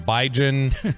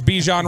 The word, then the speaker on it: Bijan: the Cowboys like him he didn't call him Biden or Bijan or anything else the fact that he knows his name is Bijon Robinson and he pronounces it correctly is it's been said